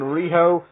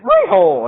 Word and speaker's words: Riho: Riho for me, because they pronounce it Riho, and they do it like a very squeaky voice.